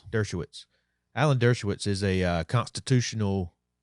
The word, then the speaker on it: Dershowitz: Dershowitz.